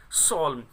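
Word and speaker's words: solemn: everyone was quite, प्रत्येक एक चुप था, एंड सॉल्व, देखिएगा स्टूडेंट्स यहाँ पर ये जो एन है ये साइलेंट, एम के बाद एन हमेशा साइलेंट होता है, तो इसको सॉल्व बोलेंगे, यानी कि प्रत्येक एक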